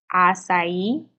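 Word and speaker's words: açaí: so this is not pronounced okay this is pronounced acai and avocado dry oil infused in it and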